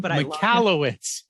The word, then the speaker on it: Michalowicz: relationship with, the Prophet First, Mike, I can't pronounce his last name, but I love him. Michalowicz. Say it again. Michalowicz. Mike Michalowicz.